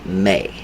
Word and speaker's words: Me: mainstream calls the May it's me but it's pronounced May okay and what the